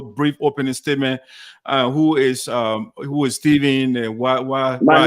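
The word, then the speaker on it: Stephen: Who is Steven? And why? My name is spelled S-T-E-H-E-N.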